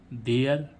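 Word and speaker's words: there: साथ आ रहा है तो हम क्या पढ़ेंगे मियर टी एच ई आरई देयर है ना एच ई आरई हियर डब्लू एच ई आरई इसमें भी आरई साथ में आ रहा है हियर एस पी एच ई R E last में आ रहा है है ना तो स्फीयर है तो गाइस आशा करते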